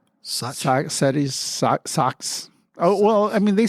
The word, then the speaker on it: Sachs: How do you pronounce it? Socks. Socks.